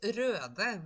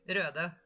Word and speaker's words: Røde: Oh, it's Røde with an E, actually. Here we go. This. Yeah, the O with a slash. Indeed, Røde. That's how you pronounce it, because that is a Norwegian brand, if I'm not mistaken.